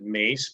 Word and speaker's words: Myss: it's actually Carolyn mace she pronounces it mace but it's spelled myss uh she's an intuitive